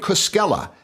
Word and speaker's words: Koskella: guest today on the borderless podcast is Cella am I getting am I pronouncing that right yes you are Cella all